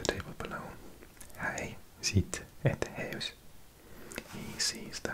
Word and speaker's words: huis: I think I used to pronounce it house.